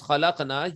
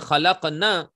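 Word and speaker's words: خلقنا: So khalaqna, when you pronounce khalaqna, you have to stretch the sound of noon because there is alif after noon. But if you don't stretch it and you read it, khalaqna, khalaqna means those females created.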